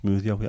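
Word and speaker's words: smwddio: Ironing is smoothio in Welsh, pronounced smoothio.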